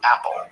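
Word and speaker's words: Apol: cold who called himself Apple a p o l pronounced apple apple was constantly messing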